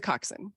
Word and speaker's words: coxswain: scene where the uh is it coxswain is that the right way to say it coxson Cox which doesn't make any sense it's a coxin yeah well it's it's for preppy people so it has to be hard so the coxin uh